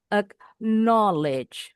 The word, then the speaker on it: acknowledge: Nah, contoh yang acknowledge berarti di suku kata noya intonasinya agak sedikit lebih tinggi. Ack knowledge, a quit, acquire.